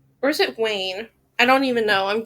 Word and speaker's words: Weyn: it danish susanna vine susanna vin susan bean okay so i'm gonna be pronouncing it wayne because that's what the website told me continuing sorry that this